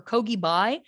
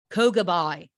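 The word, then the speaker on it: Køge Bay: in kogi bay or kogibai the way they said it in the documentary sounded like kogebai um so that's how i'm gonna say it even though that kind of sounds australian sure um but it's spelt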